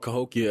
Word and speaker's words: Cahokia: It's called Cahokia, Illinois.